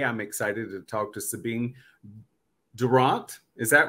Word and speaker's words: Durrant: The one thing about my name that I always feel is rather a unique thing is that it's actually a football chant.